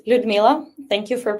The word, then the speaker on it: Ludmila: Well, it's Ludmila. Thank you for pronunciation.